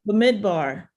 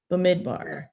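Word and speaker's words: במדבר: And How's that pronounced? it's It comes derived from the Latin title. Bemidvar is his name. Bemidvar.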